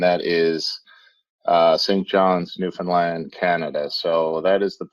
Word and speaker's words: Newfoundland: to pronounce it properly so it's understand newfoundland you get the alliteration in the flow so work with that